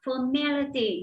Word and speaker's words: formality: chúng ta lại đọc formality, nhấn vào âm hai với các em nhé.